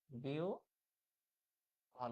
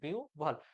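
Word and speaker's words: বিহ্বল: যেমন কি এই বিহবল শব্দটা মনে করো লিখলাম, এটার উচ্চারণ কি হয়? উচ্চারণ হয় হচ্ছে বিউ ভল। উচ্চারণ হয় কি বিউ ভল।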